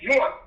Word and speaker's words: Zahn: The young man, just looking on Facebook, the young man name is Isaac Zion. ISAAC, last name is spelled ZAHN. Isaac Zion.